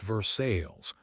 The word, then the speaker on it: Versailles: most popular boy at Versailles, which in Indiana speak is pronounced Versales.